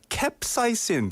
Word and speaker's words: capsaicin: capsaicin 들어보셨죠, 여러분? capsaicin 영어로 스펠링은 capsaicin. Sounds like the captain of a boat called Saizen.